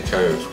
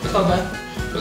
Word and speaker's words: Cobh: Then there's a place called Cove, which is spelled Cobh. You have to, so don't say that when you're there, say Cove. Cobh. Say Cobh. Because everyone will know you're not from around there.